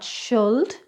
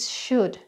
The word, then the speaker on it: should: So these are often mispronounced as well it's not sholde it should it's not culd it's could,